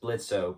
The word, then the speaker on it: Blitzo: blisso with an er which is a letter they can't pronounce in english so it's just blitzo but the o is silent who is was brilliantly